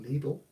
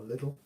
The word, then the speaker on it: Lidl: Could be pronounced Lidl or Lidl.